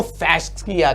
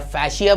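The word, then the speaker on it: fascia: तो collagen fibre generally form bundles, और उसको फैस्किया कहते हैं, या फैशिया बोलिए या फैस्किया बोलिए, depending upon what pronunciation we are learned.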